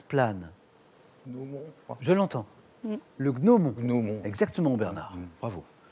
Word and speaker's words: gnomon: gnomon je l'entends le gnomon exactement Bernard bravo euh je crois qu'on prononce peut-être le N final gnomon mais enfin c'est ça